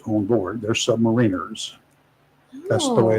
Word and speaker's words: submariner: And there are not submariners on board. They're submariners. That's the way it's pronounced. Not submariner.